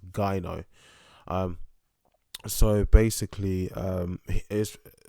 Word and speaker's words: gyno: in my last video i pronounced it as jonas actually pronounced gaino um so basically um